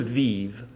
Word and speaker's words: vive: is partly provided by the effect of the articulated E mute, which lengthens the syllable before it. Froide, vive. But while froide has a full tonic accent, vive has not, and it is clarté which acts as the accentual peak, and so on and so on.